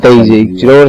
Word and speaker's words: DayZ: Best, that's how it's pronounced as well. Isn't it? Daisy.